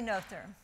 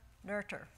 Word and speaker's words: Noether: Emmy Noether. Noether. Pronounced in German, Noether. Or perhaps frivolously, not her. Or maybe more appropriately, no ether.